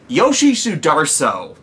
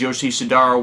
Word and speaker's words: Yoshi Sudarso: Yoshi Sudarso. I mispronounced his name as Yoshi Sudaro when I did my